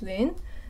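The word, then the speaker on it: 林: my husband's name and his his name is Lin.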